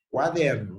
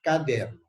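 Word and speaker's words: cuaderno: Cuidado allí com a primeira sílaba, quaderno, não é caderno.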